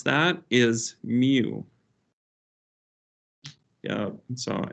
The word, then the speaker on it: mu: it okay how we re how um we pronounce that is mu yup so m mu is what you're going